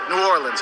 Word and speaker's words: New Orleans: Think of it this way. It's like new, and then or, like what you row a boat with, and then lens, like a camera lens. That's how you say it, New Orleans. And you put the emphasis on that or, okay?